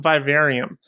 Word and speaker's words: Vivarium: So today we're talking about Vivarium. I believe that's the correct pronunciation.